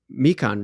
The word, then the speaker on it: Mekong: river now since we're there it was the mekong river the mike mekan river i believe is how you say it